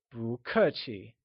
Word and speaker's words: 不: Thus, don't be polite translates to 不客气. Before moving on, let's see the pronunciation for these words. We already know how to pronounce 不. It is said with a mid-rising tone.